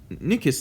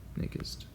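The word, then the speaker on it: Nyquist: know nisk the nis nickest limit um this spell spelled like nickest the nicest limit um would technically be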